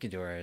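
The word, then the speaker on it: Ghidorah: dot dot or else gidra is such a weird pronunciation yeah I've heard I think gadora is the right way to say but I've heard it that that gidra is actually a valid way of saying it too so I'm not quite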